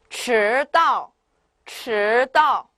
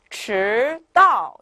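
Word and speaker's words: 迟到: 자, 迟到, 네, 迟到. 네, 이렇게 뒤에 강하게 내려오시면 되시겠죠. 반면에 앞은 좀 천천히 올라가야 돼요. 迟到 이렇게요.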